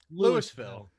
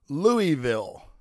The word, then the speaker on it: Louisville: We were settled by the French, so it's got a little French Creole kind of sound to it. Oh, je ne sais quoi. Louisville.